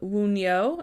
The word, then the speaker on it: Wunjo: you guys this is a room called Wu neo and it is spelled w un J o and this room you